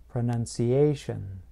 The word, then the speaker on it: pronunciation: Now, listen to this, pronunciation. I place stress closer to the end of the word, just before the T-I-O-N ending.